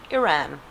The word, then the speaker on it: Iran: The I is supposed to be pronounced like Italy. So, Iran.